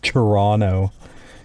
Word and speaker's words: Toronto: Sorry, Toronto. You don't pronounce a second T apparently, as I've been told.